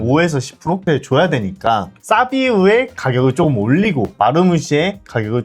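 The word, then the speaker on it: Savinho: 사비뉴가 오늘 오피셜이 떴죠? 사비우. 맞다. 죄송합니다. 이 사비우가 네. 이제 본인이 영상을 찍었더라고. 저는 사비뉴가 아니고 사비우라고 발음해달라고 해가지고 이제 사비우라고 부르겠습니다.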